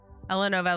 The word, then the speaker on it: Elanova: Elanova, like you've been saying, is perfect. Like how it's pronounced in Element.